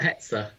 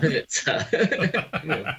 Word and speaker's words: Hetzer: What, Hetzer? Not Hertzer.